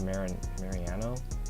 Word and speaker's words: Mariano: how do you say the last name rob mariano rob mariano boston rob this was boston rob's